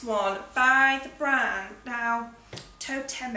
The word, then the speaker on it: Toteme: It's this one by the brand now, Toteme, I think is how you say it.